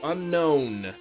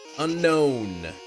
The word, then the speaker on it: Unown: good book say it's pronounced unknown just like I've been saying unknown is how you pronounce